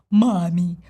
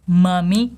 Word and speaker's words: mummy: Not mommy costume, but mummy costume.